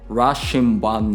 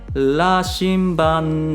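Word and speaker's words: 羅針盤: way, then it may sound like Rashinban nante, but it sounds pretty unnatural, right? So la la, so go a little bit more towards like L. Say Lashinban nante. Then I think your R pronunciation will be slightly closer to how we speak in Japanese R.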